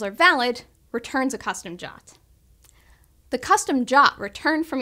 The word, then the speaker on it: JWT: Firebase gives you complete control over authentication by allowing you to authenticate users or devices using secure JSON Web Tokens, pronounced JOT.